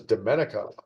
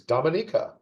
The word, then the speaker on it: Dominica: Another fun pronunciation one. I always thought it was Dominica, the small island nation. No, it's Dominica.